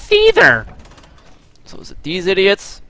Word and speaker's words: Caesar: It's not pronounced Kythar, it's Caesar.